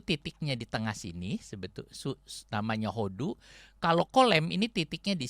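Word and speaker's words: הוֹדוּ: Kalau hodu ditulis pakai kolem, bacanya hodo. Tapi kalau pakai surek jadi hodu.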